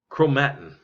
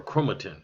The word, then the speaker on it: chromatin: in biology it's in a form of chromatin or chromatin it's pronounced in both ways thread-like structures in other